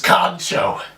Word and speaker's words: kancho: word is known as kancho pronounced exactly the way it's spelled now the direct translation